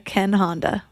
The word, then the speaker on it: Ken Honda: And now let's welcome Zen millionaire Ken Honda. Thank you, Melissa. I'm so happy to be here. I practiced your name a few times. I hope I said it right. Oh, yeah, it was perfect.